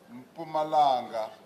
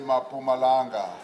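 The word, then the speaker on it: Mpumalanga: Some people who can't pronounce Pumalanga often say Mapumalanga. But the premier himself when he is in full flight and really delivering a major speech he doesn't say he says pumalanga executive mayor of kibande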